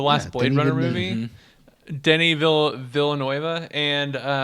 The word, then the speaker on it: Villeneuve: Runner, the last Yeah, Blade Denis Runner Villeneuve.